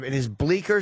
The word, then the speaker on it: Bleecker: Well, maybe the fucking Bleecker Street. Bleecker. The C is silent.